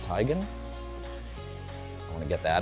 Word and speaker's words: Teigen: Radcliffe and Chrissy Teigen, who told me it's actually pronounced Teigen.